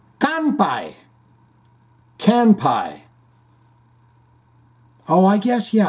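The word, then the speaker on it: 乾杯: The Japanese word for cheers is kanpai.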